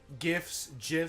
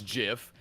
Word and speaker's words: GIF: On Discord about I it. say it with a G because I'm not a bitch. A hard G. Duh. Okay. I don't care that the creator says it's GIF.